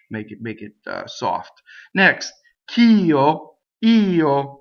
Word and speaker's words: io: Next, ch'io, io, right? Io is io, I, the word for I. It's two distinct vowels. The e getting most of the stress, right?